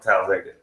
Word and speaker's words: Talladega: Talladega, yeah, you gotta say it like that too. So yeah, it's to say like how? Talladega. Yeah, you barely move your mouth Talladega.